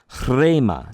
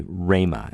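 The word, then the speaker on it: ῥῆμα: It was a marker to the ancient reader to trill the rho, the chra, chrema. Some of you who speak another language that trills letters, you can do that better than I can, but chrema, right? Chrema. And if we're just going to be lazy, we'll say rhema, and essentially say that rough breathing mark is silent.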